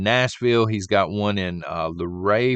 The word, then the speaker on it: Luray: He's got one in Luray, Virginia, I think is how it's pronounced.